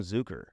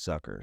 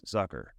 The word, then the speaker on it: Zucker: man yeah let's go some people call him zuker but I've heard interviews with him he says it's sucker so like I didn't really ask him for an exact pronunciation but all you that have been saying zuker are wrong it's Zucker so here comes Jason